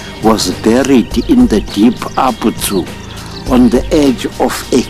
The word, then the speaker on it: Abzu: the world as the Abzu. And the truth, the right pronunciation is not Abzu as in animal zoo. No, it's Abzu. They pronounced the ZU as Tsu.